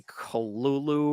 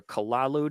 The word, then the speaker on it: Cthulhu: And it's not even, I guess you're supposed to say Kolulu or Kalalu.